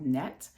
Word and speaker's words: Nette: Sephora are from uh a brand called net which is spelled NE tte and I believe that they're